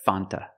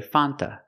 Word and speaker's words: Fanta: Fanta not in America no American would ever say Fanta it's pronounced Fanta Fanta or F sometimes you don't hear the T because you have n between vowels so you'll hear Fanta or F but never Fanta not in America a lot